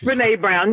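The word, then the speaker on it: Brené Brown: Is it Bren Brown or Brene Brown? How do you say that, Tracy? Do you know? It's Brene Brown.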